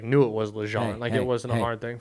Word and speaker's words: Legendre: Lejean.